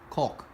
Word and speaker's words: caulk: for a second yeah I really need to put the L in there yeah the L's there for a reason but I think the L is silent silent caulk it's a little sad